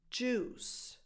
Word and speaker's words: juice: put together, and coincidentally, these represent the same pronunciation mistake because they both have U-I in their spelling, but the I is basically silent. It's just there to kind of elongate the U.